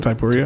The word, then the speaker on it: Poirier: Poirier. How do you say? Yeah, Poirier.